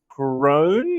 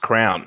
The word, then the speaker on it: Crown: it's almost like it's it's pronounced crown like the tv show yes crown the biggest uh private